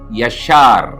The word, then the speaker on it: יָשַׁר: இந்த நாளுக்கான எபிரேய வார்த்தை யஷார். அதனுடைய பொருள் ஸ்ட்ரெயிட், நேரான என்பதாகும். எழுத்துக்களை உச்சரிக்கிறேன். யோத், ஷீன், ரேஷ். உயிரெழுத்துக்களோடு சொல்ல வேண்டும் என்று சொன்னால் யோத், காமெட்ஸ், ஷீன், பெட்டா, ரேஷ். யஷார்.